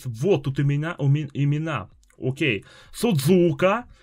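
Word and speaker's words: すず香: тут имена имена О'кей судзука ударение перво а суд я сразу ошибку допустил судзука судзука ударение на первый у ну блин мне уже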